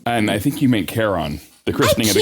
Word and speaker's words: Charon: And I think you meant Charon. The christening of the Charon. I can't pronounce any words. I butcher all words. So in the Greek mythology, the CH is pronounced like a K.